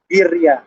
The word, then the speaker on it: birria: Birria. You gotta roll that R. Birria.